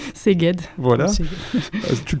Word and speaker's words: Szeged: Vous laissez vos vélos dans une ville dont je te laisserai la prononciation. Szeged.